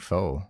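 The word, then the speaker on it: Phoe: And this one is spelled P-H-O-E. So is it Foe or Foe? I would think faux.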